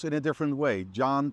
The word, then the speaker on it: Can: John pronounced like C-A-N, like can.